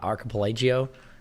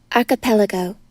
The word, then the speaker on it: archipelago: What do you How do you pronounce it? Archip Archipelagio. What the is it called? Archipelago.